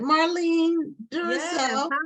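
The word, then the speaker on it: Marline Duroseau: Marlene Duroseau. Did I Hi.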